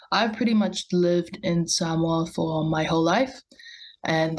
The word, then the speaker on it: Samoa: So since you're from, hopefully I pronounce it right, Yes. Samoa, Yeah, Samoa.